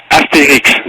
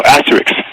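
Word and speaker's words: Astérix: Asterix, that's the right way of pronouncing it, or what you guys would call Asterix, or Lucky Luke, the cowboy guy.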